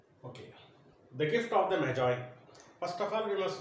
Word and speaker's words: Magi: See the word, sometimes some people pronounce it as Magi or Maggie, but the actual pronunciation is Magi.